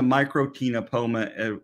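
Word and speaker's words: Microctenopoma: microkinopoma in this case you don't say the sea in the first C in tinopoma or in the microtinopoma as well so no C uh the etymology of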